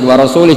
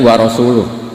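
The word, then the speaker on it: وَرَسُولُهُ: Allah itu terbebas, gak urusan dengan orang musyrik, wa rasulih juga gak ngurus Rasulnya. Kalau sama Rasul saja tidak ngurus, apalagi sama kita. Sama Sayyidina Ali dibenarkan, yang benar bacanya itu wa rasuluh, Allah bari minal musyrikin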